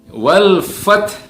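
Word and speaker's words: والفتح: Yang pertama adalah lam sukunnya di situ, wal fath. Ini sering kali kita mendengar orang membaca dengan dipantulkan, padahal huruf lam ini bukan huruf qalqalah, ya, bukan wal fath, bukan, tapi wal fath.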